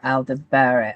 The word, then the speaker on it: Aldebaran: When the sun aligns with the royal star Aldebaran, I am really bad with the pronunciation.